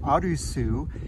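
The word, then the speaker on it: アルス: first part of it arusu is a japanese pronunciation of the word art and kikuna is this area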